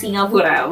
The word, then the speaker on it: Singapura: So I will try to use the correct Indonesia pronounciation for Singapore. which is 'Singapura', not Singapore (kkkk it's hard!!)!!